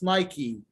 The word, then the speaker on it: Nike: The word Nike, everybody thinks that it's Nike. It's not Nike, it's Nike. It's this one, it's pronounced like Nike, the famous brand.